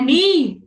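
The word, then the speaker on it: knee: Iya, dengkul itu bacanya ni. Ni. Oke. K ka terus belakangnya konsonan itu K-nya enggak dibaca.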